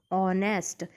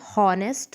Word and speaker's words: honest: Like honest, o से शुरू हो रहा है इसलिए हम n यूज़ करेंगे, जबकि आपको देखने में h से स्टार्ट लग रहा है क्योंकि h स्पेलिंग h से है उसकी, लेकिन उसका जो साउंड है वो वॉवेल साउंड है, ओ से शुरू हो रहा है वो। ऑनेस्ट, अपन हॉनेस्ट तो नहीं बोलते हैं ना, ऑनेस्ट बोलते हैं, तो ओ